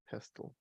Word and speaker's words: pestle: I think the T is silent. No. I don't know. Let's. I'm gonna quickly. I'll just say pestle.